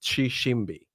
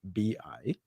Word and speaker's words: Tshishimbi: So the T is semi-silent. It's pronounced Tshishimbi. So Tshishimbi, and the T is semi-silent.